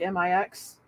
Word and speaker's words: Mx: I prefer uh mix MX pronounced like m-i-x as far as you